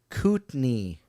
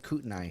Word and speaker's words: Kootenai: paisley's kid goes to kootenay yeah you said kootenai oh kootenai my goodness it's right there it's spelled exactly the same yeah well i'm not